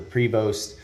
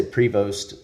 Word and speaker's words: Prevost: It's like the Cadillac or the Prevost, and I'm gonna say Prevost instead of Prevo because I think you have to own a Prevost to say it like Prevo, right?